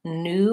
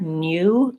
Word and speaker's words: new: Sometimes you will hear new with a little bit of a glide in there, new. That's more the British pronunciation. I would recommend going with this one, new, just the U vowel and the N sound, because that's more typical American.